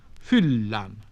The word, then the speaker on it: fyllan: Finally, when consonants were written double, they were pronounced long, rather as in modern Italian. Sunne, sun, fyllan, to fill.